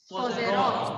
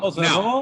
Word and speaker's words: sposerò: long syllable of the word is on what syllable? The troverò. Good. So say for me, troverò. Troverò. Troverò. Sposerò. Now, Sposerò.